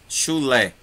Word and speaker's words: chulé: Café tem duas sílabas. E café é oxítona. Entendeu? Chalé é oxítona. Chulé é oxítona.